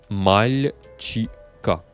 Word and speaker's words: мальчика: Mais la réponse, je te la donne tout de suite, c'est мальчика. Я вижу мальчика. Je mets l'accent tonique comme ça, en gras et surligné.